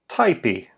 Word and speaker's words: tajpi: The verb for to type is pronounced typy.